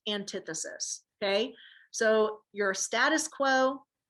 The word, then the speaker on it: antithesis: I know this looks like antithesis, but it's pronounced antithesis, okay?